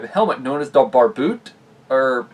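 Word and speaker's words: barbute: helmet known as the bar boot or bar boot uh wait do you pronounce it here you do not pronounce e anyway but yeah this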